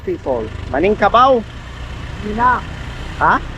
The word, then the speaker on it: Minangkabau: And also the region of the Minangkabau people. Minangkabau? Minang. Huh? Minangkabau. Minangkabau, sorry. I mispronounced it.